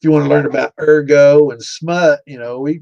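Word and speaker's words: ergot: I don't want to sound like an idiot because I've always called it erggo, but it might actually be pronounced urgot.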